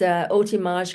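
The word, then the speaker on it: Hotimage: It's Otimage Consulting. It's spelled hot image, but I like the French Okay, pronunciation, gosh, I like that. Otimage Consulting.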